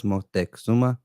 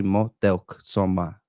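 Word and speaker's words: Motecuhzoma: I know that most people know it as Motexuma, but it's supposed to be Motelk Soma. Motelk Soma. Motel. So that's the real way to say it, Motelk Soma, and not Motexuma or whatever.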